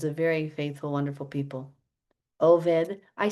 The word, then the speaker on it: Obed: Oed I say oed because that's the proper Hebrew way to say it.